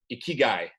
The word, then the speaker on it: Ikigai: And today we are talking with Jack Wilson from the greater Boston area, sales leader, mentor, coach, and self-proclaimed guy with Ikigai. Did I pronounce that right, Jack?